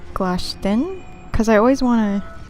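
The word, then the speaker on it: Glashtyn: I think it's Glashtin, because I always want to pronounce the YN as an IN, like win, but it's really pronounced as an N sound, like in when, not in win, like WIN.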